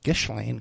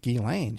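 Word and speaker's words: Ghislaine: Everyone pronounced it gishlane because of the spelling. But she knew how to pronounce it Gilane.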